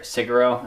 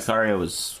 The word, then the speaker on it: Sicario: Siguro, anyone watch that? Loved it. Meant to. Meant to be really pretty. Yeah, You got- Sicario was one of my favorite movies.